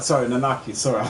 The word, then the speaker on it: Nanaki: name / nun anchor RIT they're not sorry nanaki sorry I said it wrong you know I'm